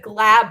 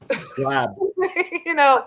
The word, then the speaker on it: Glab: So hey, I'm impressed that you said Glab right. Glab. You're good. I've been saying it and I'm thinking, man, I'm hoping I'm pronouncing that right.